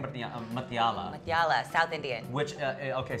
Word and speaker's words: Mutyala: sitting here with Deepica Mutyala. You said it right. I nailed it. We were talking about, is it a tuh sound or a thuh sound?